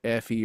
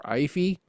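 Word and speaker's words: Aoife: Our director this week is Effie Mardle. That is spelled A O I F E. According to Wikipedia, it's either Effie or ify.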